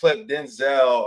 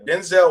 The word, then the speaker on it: Denzel: Um, but yeah, Denzel Washington revealed that his name has been mispronounced throughout his four decade career. His name is actually Denzel.